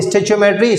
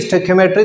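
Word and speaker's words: stoichiometry: से जाना जाता है, जैसे आप इसको प्रोनाउंस करें that is depend on यू। तो स्टोइचियोमेट्री स्टोइकियोमेट्री दोनों भी कह सकते हैं आप।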